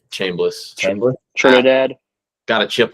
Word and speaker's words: Chambliss: Chambers. Chambliss.